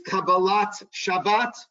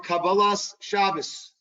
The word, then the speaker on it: Kabbalat Shabbat: Page 63 is Kabbalat Shabbat or Kabbalas Shabbos. What is the difference between Kabbalat Shabbat and Kabbalah Shabbos? The saws and the tas, right? Which is the difference between a Sephardic pronunciation and an Ashkenazic pronunciation.